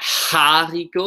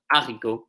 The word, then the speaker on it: haricot: H's are silent. So if you have a word like haricot, which is like a bean, it's not haricot, it's haricot. I say E. So it's like two E's in English. That's how it's pronounced. J's, the letter is called obviously it's called J.